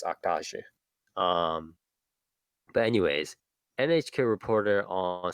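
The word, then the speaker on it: Act-Age: But it's Actage, right? Actage. Actage would be the English I pronunciation.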